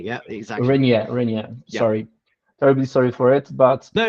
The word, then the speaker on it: Reynier: Yeah, yeah, I pronounce Reynier. Yeah, Reynier. Yeah, exactly. Reynier.